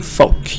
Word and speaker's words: folk: The L is silent. Say folk.